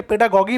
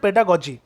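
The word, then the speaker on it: pedagogy: অনেকে পেডাগগি বলে, পেডাগগি কিন্তু নয়, অ্যাকচুয়ালি এটার প্রোনাউন্সিয়েশন হচ্ছে পেডাগজি।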